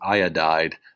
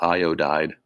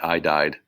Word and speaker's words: iodide: is the name so this is actually iodide which is three syllables and i i just said that most of them are two this is one of the exceptions it is three syllables io died otherwise it'd just be i died and that would be tragic so gallium again positive